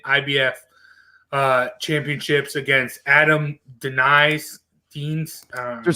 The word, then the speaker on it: Deines: defending his wbcn ibf uh championships against adam denis teens they're saying deans i've heard it pronounced yeah all right joe break it down